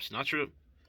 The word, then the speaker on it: Sennacherib: slay in the host of, Slaki if I mispronounce this, Sennacherib. Yeah, you good. Yep, Sennacherib.